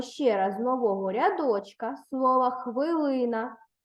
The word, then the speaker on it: хвилина: будь ласка увагу що слова хвилина пишеться з буквами и і наголос падає на другий склад на звук и запишіть це слово з